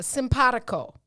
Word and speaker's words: simpatico: uh let's see uh simpatico simpadico s-i-m-p-a-t-i-c-o pronounced just like it's spelled simpatico it's an adjective